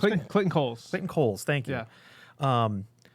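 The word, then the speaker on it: Clayton Cowles: How do we pronounce it? Clayton Coles.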